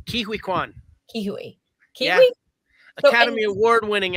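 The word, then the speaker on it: Ke Huy Quan: Kihui Kwan.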